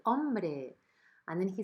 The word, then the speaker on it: hombre: Hombre, Arturito. ¿Qué tal has dormido? Bien. He says, hombre, hey man. Remember that the H doesn't have any sound in Spanish. So we say hombre.